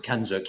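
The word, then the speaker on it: CANZUK: Kanozuk, or how do you pronounce it? The Kanzuk. Kanzuk, yes.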